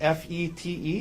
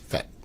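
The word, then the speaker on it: Fête: Tell us, well, first of all, is it F-E-T-E? Is that how you spell it? Yes, this first E has a circumflex over it. Okay. So, But it's pronounced Fete.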